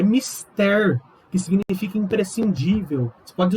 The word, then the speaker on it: mister: Outras palavras, não é mister, é mister, que significa imprescindível. Você pode usar isso na sua proposta de intervenção do Enem. É mister que o governo federal faça isto.